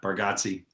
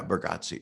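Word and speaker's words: Bargatze: know uh like a uh you know nate bergassi uh that's how you pronounce his last name right yeah bargatzi yeah burgotze he's so nice um he's you know he's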